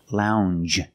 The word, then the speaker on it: lounge: changej it's a regular n n plus the soft J sound Lounge a lounge is a